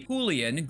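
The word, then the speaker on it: Julián: Alfredo says the way the right way to say Julian in Spanish it would be julan great vid as per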